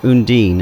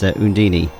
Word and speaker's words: Undine: I love the one bit where there's call her Undine, and then that one time Yuri says Undini, which is still how I prefer to pronounce it, so screw that.